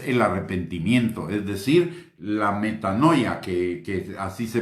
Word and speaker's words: metanoia: Señor, y es el arrepentimiento, es decir, la metanoia, que así se pronuncia o así se escribe arrepentimiento en griego, que es un cambio total de dirección, un cambio en el sentido opuesto.